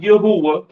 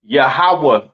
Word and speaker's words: Yahawah: it's not Yahweh uh it's not Yahweh right it is pronounced yahawah in the Hebrew all right yahawah in